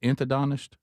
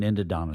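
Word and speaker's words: endodontist: Is it inadidonist? Is that the root canal people? Root canal. It's called an endidonist.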